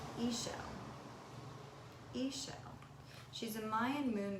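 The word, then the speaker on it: Ixchel: I don't know everything surprisingly her name is pronounced Ayesha Ayesha she's a Mayan moon goddess and I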